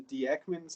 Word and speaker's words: Dieckmann: name it's called a dieckmann's cyclization i've actually heard it pronounced the diekman cyclization i don't know i'm pretty sure it's a german name but the diekman cyclization